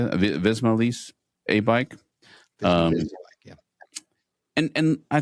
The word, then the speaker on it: Visma: many times, up into Stage 7, the UAE, Visa Lease, is that how you say it? Visma Lease, A-Bike.